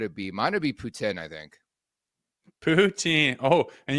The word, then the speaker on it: poutine: Mine would be poutine, I think. Poutine. Oh, and you threw a little caveat on. Man, you're hot this morning. You threw a little poutine.